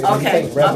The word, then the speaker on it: REBAL: I know when you say Rebel. Okay, I'll have you to spell it then.